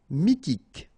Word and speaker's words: mythique: Mythique, remember, Q-U at the end, K, okay, and then Y is pronounced like I. Mi, H is not pronounced, T, K. Mythique.